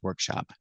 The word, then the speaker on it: workshop: are working in Santa's Workshop so remember we have different kinds of workshops but the pronunciation is always the same use a short a sound like hot and stop shop together Workshop thank you for watching and